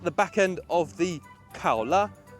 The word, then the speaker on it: Kaola: back end of the Kaa yes that is its name it's not koala although it is in Chinese Kaa is the Chinese pronunciation of koala so very animal themed